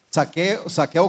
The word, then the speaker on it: Zaqueo: a los ladrones saqueo aunque saqueo se escribe con z pero suena saqueo con s es como robo y